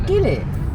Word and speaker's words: gilet: actually pronounced gillet. Yeah, but it's spelt the same, so how are they going to say it in the comments? It's gillet.